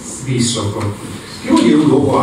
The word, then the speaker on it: Visoko: Queste piramidi si trovano a Visoko, non Visoko, come sento dire spesso, perché la S, questa si pronuncia S, Visoko.